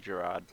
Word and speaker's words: Jarad: My opponents are Lazav, Dimir Mastermind, usually a mill-themed commander, Golgari, Lich Lord, Jarad, Jarad, however you choose to pronounce it. I think it's technically Jarad.